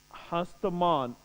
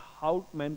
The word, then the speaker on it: Houtman: Spelling अगर जानना चाहते हैं तो COURNELIUS, Cornelius DE, हस्तमान HOUTMAN। English में हाउटमैन कहेंगे, हिंदी में हस्तमान। ठीक है।